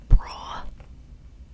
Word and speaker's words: Bruar: It was in a town called Brua. I'll just spell it for you.